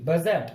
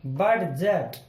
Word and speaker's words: budget: डी और जी एक साथ आया, डी के बाद आया जी और यहाँ पे हो गया डी साइलेंट, तो हम डी की ध्वनि नहीं निकालेंगे, यानी कि हम डे नहीं बोलेंगे। अगर हम इसके साथ पढ़ते ये बनता बडजट, जो कि गलत होता।